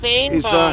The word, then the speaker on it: fynbos: The foliage, like most of the stuff here in this Mediterranean fynbos It's climate, pronounced fynbos.